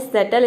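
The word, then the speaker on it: subtle: क्या है सबटल है सबटल आप इसको सबटल प्रोनाउंस ना करें ये होता है सटल इसमें भी साइलेंट रहता है सटल का मतलब होता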